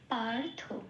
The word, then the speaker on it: পার্থ: তখন থটাকে পূর্ণরূপে উচ্চারণ করতে হয় থ। পারথ। হু।